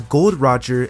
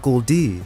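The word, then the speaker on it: Gol D. Roger: we learned his name it's pronounced as gold Roger and not Goldie now with this you'd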